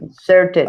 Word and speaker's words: inserted: inserted. I. Eh? Ahí sí se pronuncia la ED.